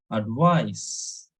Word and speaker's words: advice: of C only so if it is C then it should be pronounced as advice advice and if it